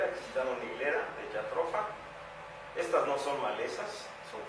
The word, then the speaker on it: Jatropha: de Belice, de Guatemala, para evaluar la famosa jatropha, porque así se pronuncia, Jatropha curcas, una euforiácea cuyos aceites tuvieron un gran impacto para la producción de biodiesel.